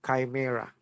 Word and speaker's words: chimera: genetic manipulation genetic corruption scientist have a term for that those hybrids they call it ch i chimera in spelling you call that you pronounce it chimera what is chimera these